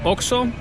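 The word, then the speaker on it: OXXO: Oxo, the O-X-X-O, pronounced Oxo.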